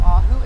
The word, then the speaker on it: Ajo: you a tour of ahu arizona come on let's get started throughout the video the correct pronunciation is ajo arizona before we start